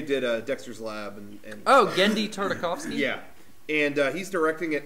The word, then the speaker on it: Tartakovsky: Tartakovsky. Gore. Whatever. The guy who did Dexter's Lab and oh, Genndy Tartakovsky.